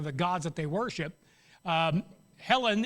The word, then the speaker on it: Hellen: Helen is the mythical, and that's how it's pronounced, by the way.